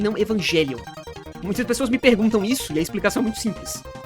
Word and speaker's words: Evangelion: de Evangelion e não Evangelion? Muitas pessoas me perguntam isso, e a explicação é muito simples. Em japonês, eles pronunciam o anime assim, porque o nome do anime vem do grego. Evangelion é uma palavra do grego.